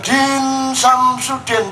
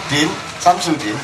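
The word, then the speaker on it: Din Syamsuddin: Nah, caranya membaca bukan Din Samsudin, itu salah. Cara membacanya jangan pakai politik, jangan pakai orasi, tapi pakai kebudayaan dan kesenian. Din Samsudin.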